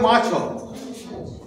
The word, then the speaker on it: মাছ: মৎস্য থেকে মাছ, মাছ, মাছ ও বানানটা ময়াকার ছ দিচ্ছি, হলন্ত দিচ্ছি না, দিচ্ছি না তো, কিন্তু উচ্চারণ করার সময় মাছ, শেষের অকারটা উচ্চারণ করছি না।